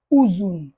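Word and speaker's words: uzun: prononce où en turc en turc on dit pas eu mais on dit où exemple nous avons Uzum ouzoum ouzoum c'est long alors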